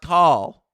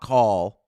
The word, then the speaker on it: Cal: Mary says, "Jesse, Raleigh's name is pronounced call as in California, not call as in Colorado."